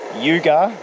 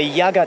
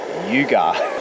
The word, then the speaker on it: Yugar: way to the end he wrote Yuga that's how you pronounce it I said to the ly at the information center I said yeah the Yaga tunnel she goes you mean Yuga very very interesting isn't